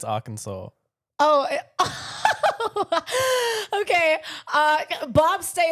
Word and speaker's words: Arkansas: Um, uh, Kansas. That's the That's not even how you say it. What? I swear it's Arkansas.